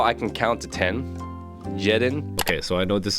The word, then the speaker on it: jeden: of my main issues I always pronounce the J as a j instead of a y so it should be pronounced yedin if I'm correct but I'm still trying